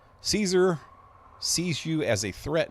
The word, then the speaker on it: Caesar: Caesar instead of Kaiser, which I guess that can go either way.